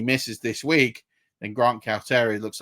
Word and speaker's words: Calcaterra: And then the last one, and this is a bit of a chaos play, is Grant Calcaterra, I think is how it's pronounced. Calcaterra. That is how I'm interpreting it.